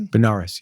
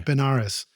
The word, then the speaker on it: Benares: The Smithsonian Institution awarded him a postdoctoral level research fellowship to study tabla in Benares. Did I pronounce that right? Benares, yeah. Benares, India, with Pandit Sharda Sahai.